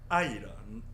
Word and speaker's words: 爱人: 그걸 이제 중국어 발음으로는 아이런, 아하.